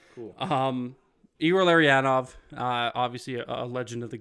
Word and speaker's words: Igor Larionov: Igor Larionov.